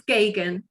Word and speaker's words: Geoghegan: And can you pronounce your name again so that I make sure I say it properly? It's Geoghegan. Geoghegan.